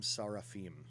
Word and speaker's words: seraphim: camp it describes them in the hebrew of the torah as hashim sarafin as fiery serpents now as you even hear that seraphim in english we have anglicized this pronunciation you you will know